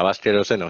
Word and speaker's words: Baskeroseno: si está mal dicho, por ahí ustedes tienen alguna pronunciación No, distinta a como suena. nosotros. Sí, como Bien, suena, Vasqueroseno, sí.